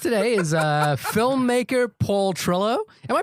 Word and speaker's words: Trillo: Um our guest today is uh filmmaker Paul Trillo. Am I pronouncing that right by the way?